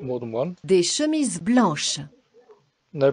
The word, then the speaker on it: blanche: Blanche. And in this case, the pronunciation does change. Blanche.